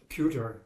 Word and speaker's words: Kueter: My name is Kuter. And could you please spell it for us?